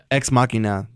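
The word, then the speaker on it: Ex Machina: another Oh you mean right now yeah okay exmachina that's how you say it and then they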